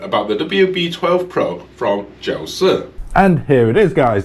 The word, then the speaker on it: Jiusi: This, believe it or not, is not pronounced Jiusi. This is actually pronounced Jiusi.